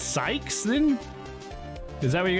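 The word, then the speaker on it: Cykes: Athena's surname is pronounced Skies.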